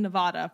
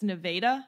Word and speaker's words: Nevada: The first A in Nevada, pronounced A. Oh, I guess it's Nevada? Shit. I've been pronouncing it wrong the whole time.